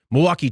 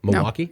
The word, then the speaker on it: Milwaukee: did I not does do you not hear the l Milwaukee I don't hear it Milwaukee Milwaukee oh sorry